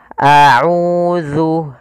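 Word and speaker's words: أعوذ: Panjangnya adalah 2 harakat, yaitu a'udzu, a'udzu. Qul a'udzu. Kemudian hati-hati dalam melafalkan zal. Ini jangan terbaca dengan a'udzu.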